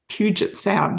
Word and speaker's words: Puget Sound: with her kids and doing skinny dips in Puget Sound. Have I pronounced that correctly?